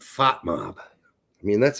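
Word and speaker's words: FotMob: I didn't know Foot Mob did pie charts like this. They like pie. Fat Mob. Not foot mob, fot mob.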